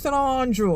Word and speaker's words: St. Andrew: That's how them pronounce San Andrew.